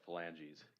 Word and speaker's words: phalanges: If the court needs pronunciation, it's pronounced phalanges. Phalanges?